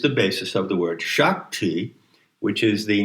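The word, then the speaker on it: sak: So the PIE root of sacrilege is the word shak, which is generally spelled S-A-K, but the S is pronounced with an H. And shak is a phoneme close to shock, right?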